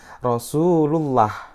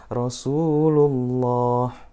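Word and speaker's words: رسول الله: ya ada huruf lam dan kemudian lam ini dia berharakat dhomah sehingga jadi Bacanya adalah tafkhim atau the tebal itu cara yang salah ketika baca adalah rosullullah Rosulullah Nike yang salah harusnya gimana Rosulullah Rosulullah Nah inilah contoh-contoh dari lam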